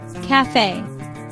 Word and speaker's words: cafe: Cafe. Two-syllable word. Stress is on second syllable, cafe, meaning a small restaurant where you can drink coffee or eat snacks.